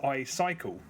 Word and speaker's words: iCycle: an iOS game called icicle colon on thin ice icicle spelled with a Y so it's I cycle okay this has been